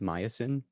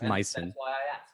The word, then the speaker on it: myosin: about this and they they pronounce it myosin so you know it that's how i say it now it's my sin that's why i asked